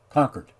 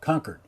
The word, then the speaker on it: Concord: that can't be right concord excuse me concord not concord the chord isn't it's anyway conquered there we go conquered you can always tell